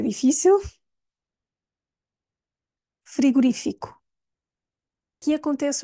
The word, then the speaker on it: frigorífico: um chapéu ou seja temos um assinto gráfico e é super útil porque nos ajuda a ver onde é que temos de focar portanto é freo fico se não houvesse esse assento a rainha estaria na penúltima silba seria friguri friguri frigorífico eu nem sei dizer bom seria no Fi e não no ri frira frira Este é